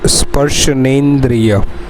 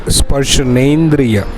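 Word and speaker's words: स्पर्शनेन्द्रिय: Okay, that is sparshanendriya. It's very necessary to pronounce a perfect word in Ayurveda. Sparshana plus indriya, that is sparshanendriya.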